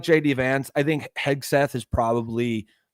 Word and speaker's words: Hegseth: Hegseth? Yeah, okay. Yeah. We'll call it Hegseth. Hegseth. Yeah, Hegseth. Yeah, I'm no, Set. No, like Hegseth.